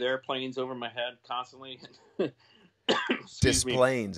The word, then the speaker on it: Des Plaines: Is that how you say it? Cause I always thought it as like a French word, Des Plaines. Des Plaines. No, it's Des Plaines. Yeah. Des Plaines. That's how it's said.